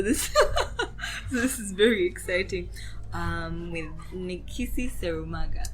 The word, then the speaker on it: Nikissi Serumaga: With Nikissi Serumaga. Correctly pronounced.